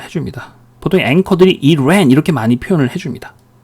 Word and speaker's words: Iran: 두 번째, 이란 이러죠? 대개는 뭐라 그럽니까? 그렇죠. 이건 뭐예요? 뒤에 자음이 하나 있으니까 어떻게 발음한다? 에 발음한다. 그래서 Iran 이렇게 많이 발음을 해줍니다.